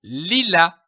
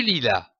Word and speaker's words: lilas: Prenons une autre syllabe, comme par exemple la, qui s'écrit ici L-A-S, et qui se prononce la. L'association de ces deux syllabes, li et la, donne le mot lilas, comme du lilas.